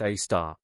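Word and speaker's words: Sagittarius A*: our own Milky Way Sagittarius a asterisk pronounced a star.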